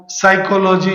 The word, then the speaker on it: साइकोलॉजी: होगा single S होगा Manwar साइकोलॉजी जिसमें पी साइलेंट होता है कैसे तो जहां भी